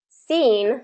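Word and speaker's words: scene: Seen, so scepter, maybe that's scepter. But seen is going to be pronounced just as the same as seen. S instead of SC, it's just going to be S.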